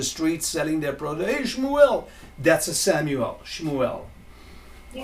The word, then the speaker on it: Shmuel: Hey, Shmuel! That's a Samuel. Shmuel. Can you spell it again, please?